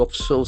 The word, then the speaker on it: observe: You observe something. You observe a D. Observe. Observe. That's a beautiful pronunciation. The accent falls on the second syllable and the letter S sound.